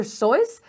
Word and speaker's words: Seuss: did you know that dr seuss pronounced his name dr soyuz his real name was